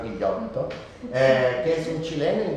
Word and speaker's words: Ghigliotto: Esta novela de Galo Ghigliotto yo lo pronuncio así como italiano, ¿no? El apellido es italiano, Guillotto, que es un chileno,